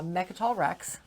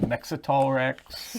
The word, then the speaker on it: Mech Rex: mech rex hi good job. He actually got it right this time because there was a lot of different pronunciations of meat rex last night including mexlrex and mecha and mextox and they were not all me.